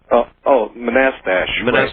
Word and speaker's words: Manastash: How do you pronounce the name of your town, Manastash? Manastash. Manastash. Right. That's right.